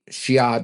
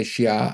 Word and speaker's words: Xia: to get through the Xia dynasty. Did I say Xia? I meant Xia. That's spelled Xia, confusingly enough.